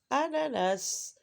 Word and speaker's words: ananas: Ananas. Dans le mot citron, la lettre N, on ne la prononce pas. Mais dans le mot ananas, bien sûr, on la prononce à 2 reprises. Na et na.